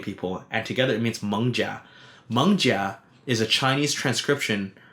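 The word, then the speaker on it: 艋舺: There's two ways to pronounce it. Mengjia, Manja, or Manga in Hokkien.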